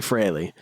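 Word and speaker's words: Frehley: I say it wrong. I will say it all the time. It is actually Freley.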